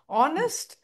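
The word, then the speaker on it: honest: ஹெச் வரும்போது நம்ம எங்க கன்ஃபியூஸ் பண்றது மெயினா அப்படின்னா ஆனஸ்ட், அவர், இந்த ரெண்டையும் கன்ஃபியூஸ் பண்றோம். இந்த ரெண்டுலயும் ஹெச் நம்ம ப்ரொனவுன்ஸ் பண்ண ஆரம்பிச்சிட்டோம்.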